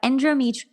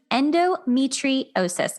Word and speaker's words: endometriosis: LJ Johnson, she is a women's hormones coach and we're going to talk about endomeet endometriosis. I said it right, finally. It's been a tough word for me.